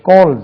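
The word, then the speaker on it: calls: கால்னு ஆச்சுன்னு தெரியல கோல் கோல்ஸ் சிஏ எல் எல் எஸ் கோல்ஸ் ஜெட் என்று உச்சரிக்கும் கோல்ஸ் ஹி கோல்ஸ் மீ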